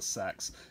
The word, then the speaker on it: seax: Sax? It's called a sax.